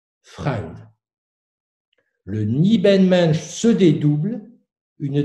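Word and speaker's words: Fremde: C'est-à-dire que ce Nibelmensch se présente comme ayant une part d'étranger en lui, là où l'allemand écrit F-R-E-M-D-E et qui se prononce Freund.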